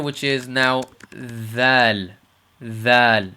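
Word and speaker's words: ذال: And the proper way to pronounce this is basically, if I give you an idea, it's the word in English if we say the, or this, or that, or those, or these.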